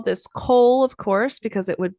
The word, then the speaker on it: kohl: And so Egyptians would call this kohl, of course, because it would be used it's like kohl, like the black of coal. It's spelled like the department store.